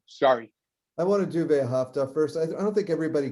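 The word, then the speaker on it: ואהבה: So you actually do pronounce all these things, V'Ahava, but often people say just that whole hey is silent, V'Ahava, that's fine too. Technically it would be V'Ahava, V'Ahava. But Yeah, to say, so most people skip the hey in practice. so it's V'Ahava.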